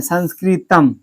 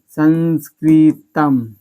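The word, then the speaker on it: संस्कृतम्: कोई भी शब्द के अंत में आता है तो इसका उच्चारण क्या हो जाता है, मो आता है, क्या आता है, मो आता है।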